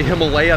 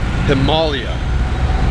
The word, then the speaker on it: Himalaya: We say Himalaya, that's not how you say it. It's Himalaya, or something like that. The Brits say it closer than we do.